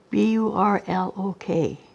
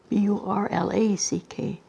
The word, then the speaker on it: Burlack: Burlock. And now it's spelled? Burlack. See, there it was Burlock, and now it's Burlack. It's got an A and instead of an O.